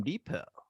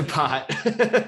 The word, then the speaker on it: Depot: It says Home Depot on the sign, but everyone says the Depot. I was like, which T in my company name? No, T is silent in Depot, and you're like, what the fuck?